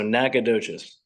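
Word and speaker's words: Nacogdoches: from uh I'm from nacadas Texas and it if you look at the name you're not gonna be able to say it right but the g is silent so nacadas there you go from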